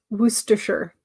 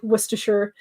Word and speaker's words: Worcestershire: So yeah, maybe Worcestershire is more of how you say it. Yeah, but I know it's supposed to be like Shire, like in England, but they don't always pronounce it Shire.